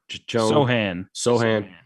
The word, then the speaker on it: Sohan: to put Brown or Jeremy how do you pronounce his last name? Sohan. Sohan at the 5 and go small, and that's what they've done.